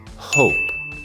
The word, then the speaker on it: hope: El próximo verbo es hope. La H no es muda. Hope y este verbo quiere decir esperar o tener esperanza.